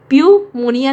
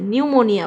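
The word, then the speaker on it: pneumonia: प्यूमोनिया नहीं बोलते, न्यूमोनिया बोलते हैं, न्यूमोनिया। सो निमोनिया बोलते हैं, न से शुरू करते हैं, तो यहाँ पी साइलेंट है।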